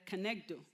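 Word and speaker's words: כנגדו: It's a two-word that is pronounced as a kenegdo.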